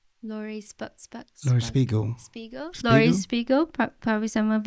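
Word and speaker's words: Laurie Spiegel: How do you pronounce her name? Lori Spiegel.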